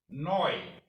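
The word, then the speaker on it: neu: so deutsch hoyte means today hoyte means today noi means new new noi auto a new car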